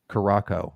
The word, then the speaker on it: Curaçao: Curaçao, right? Not Curacao. Curacao. Curacao or Curaçao? I don't It's remember. Curacao. It is Curacao. The way you know it has a soft C is that the C